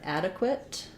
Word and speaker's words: adequate: the word adequate adequate we have first syllable stress the black cat vowel and uh and then this q u says qua um we have a reduced final schwa quote or or I sound so it sounds like add uh quit length on your first syllable ah adequate I hope that's an